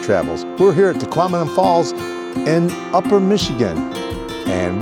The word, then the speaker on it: Tahquamenon: um just a hint Tahquamenon rhymes with phenomenon. It might help and remember how to say the word Tahquamenon Tahquamenon Tahquamenon.